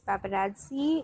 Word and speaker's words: paparazzi: What I told you was the pronunciation is paparazzi. It's an Italian word, and it is used to describe any photographer or a group of photographers who keep clicking the celebrities.